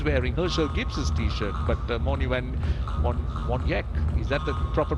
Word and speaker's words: van Wyk: He's wearing Herschel Gibbs's t-shirt, but Morne van Wyk, is that the proper pronunciation? So the W is pronounced V.